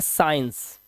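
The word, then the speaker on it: science: एस के बाद आया सी साइलेंट होगा। जैसे एस सी आई इ एन सी ई से पढ़ते हैं साइंस तो यहां पर सी साइलेंट ऐसे ही सीन सी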